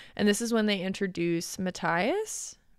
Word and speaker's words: Matthias: And this is when they introduce Matthias. Is that how you say it? Yes. Matthias. On the train.